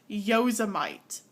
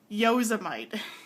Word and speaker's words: Yosemite: You know, I've heard people say um yuseite yuseite, but this pronunciation has stuck with me ever since they said it as yoseite. Yosemite. That's not even that's not even close to the pronunciation.